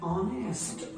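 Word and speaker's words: honest: सी singular है, इज ऑनेस्ट, ऑनेस्ट में H silent है और नॉर के बाद वाला सी लीडिंग सब्जेक्ट है।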